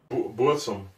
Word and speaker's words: Burzum: 100000 mal entschuldigt so bsum oder Burzum Burzum was bsum oder bum B r Z m bum glaube ich wde ausgesprochen ja war okay das